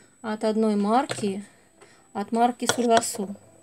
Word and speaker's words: Sulwhasoo: Следующее, что я вам покажу, это два набора от одной марки, от марки Сульвасу. Или Сульвасу, все называют по-разному, кто где ставит ударение. Мне как-то вот удобнее говорить Сульвасу. Итак, два набора, одинаковые, кстати, вот это наборы.